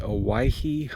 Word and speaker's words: Owyhee: Everybody misspells it, everybody mispronounces it. It's called the Owyhee Mountains.